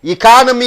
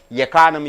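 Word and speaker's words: economy: அதை உச்சரிப்பு இக்கானமி என்று சொல்கிறோம். இக்கானமி. இக்கானமி. எக்கானமி என்று சொல்லக்கூடாது.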